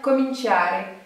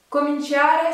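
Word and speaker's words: cominciare: types de prononciation dedans vous avez le verbe cominchare cominchare ça veut dire commencer donc vous voyez que devant le O ça fait que et devant le devant le i ça fait t on ement une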